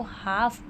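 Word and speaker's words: half: हम इसको हाफ पढ़ रहे हैं। ठीक है? तो यहां पे एल जो है वो साउंड नहीं हो रहा है। एल जो है वो साइलेंट है।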